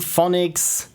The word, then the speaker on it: Fonics: So Echo Anomaly by I Am Fonics, Programming and Art, and my teammate was Chipper for music and sound effects. Wonderfully fitting name. So how to pronounce your name? Pronounced just like phonics.